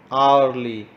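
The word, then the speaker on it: hourly: एच का sound है बट आली इसके अंदर एच का साउंड नहीं है तो हम इसे सर्कल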